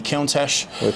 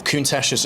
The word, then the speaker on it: Countach: in the 70s was it was a lamborghini countach or countach as you pronounce it i was always a lamborghini fan